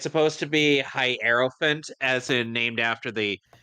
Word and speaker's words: Hierophant: h hofun like huh it's supposed to be hierophant as in named after the hierophant Tero card yeah hro yeah that's pronounced Hof font oh so he did pronounce